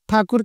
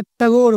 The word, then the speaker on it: ठाकुर: जैसे रविंद्र नाथ ठाकुर के नाम को उन्होंने टगोर बना दिया।